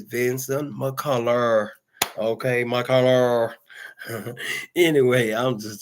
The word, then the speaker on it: Vinson McCullar: To those that don't know how to pronounce it very well, please look at it. And it's Vincent McCullough.